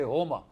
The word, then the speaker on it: Homa: In Iranian, in Persian, you don't pronounce the S, you pronounce it as H. When we say Soma, they say Homa.